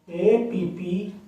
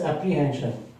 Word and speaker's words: apprehension: APPREHENSION. It is a noun. In India and in UK we pronounce it as apprehension, but in the USA we pronounce it as apprehension.